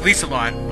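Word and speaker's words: Liselotte: It's actually pronounced Lisalot, but, well... I wouldn't say 4 syllables, but, well... Lisalot is how you pronounce it.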